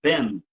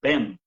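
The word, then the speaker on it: בן: sdo pronunciado desta palavra foneticamente é Ben e aí a gente pronuncia assim com os lábios fechados mesmo né Ben então o m aí ele fecha né Ben Então esse é o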